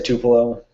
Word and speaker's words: Tupelo: f3 that went through tupelo or to payload to pillow i guess there's like eight different pronunciations but the locals say tupelo i'm good with that